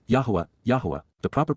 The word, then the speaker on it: Yahweh: advice please be aware and then W Yahweh Yahweh the proper pronunciation of the name of yoah God as